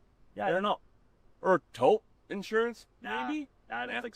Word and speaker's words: Toop: Or taupe insurance? Maybe? I don't think so. Say it right. That's T-O-O-P. That's taupe. Oh, it's Taupe.